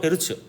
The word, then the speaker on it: 헤르츠: 후르츠 아니고 헤르츠.